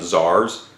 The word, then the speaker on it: czar: That's either spelled C-Z-A-R or T-S-A-R, but it's both pronounced the same, czar. Which you would think would start with a Z, but that's not how it translates into our particular alphabet.